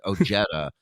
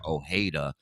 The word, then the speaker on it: Ojeda: last name correctly either it's Ojeda and he calls him Ojeda and has been for